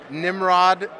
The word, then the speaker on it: Nimrod: your name for me Nimrod like the derogatory slang anall Nimrod anall you have it here on Zimbio that is how you pronounce his name this is the man